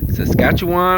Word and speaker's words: Saskatchewan: outside of san jose uh they're from canada saskatchewan i believe is how you say it so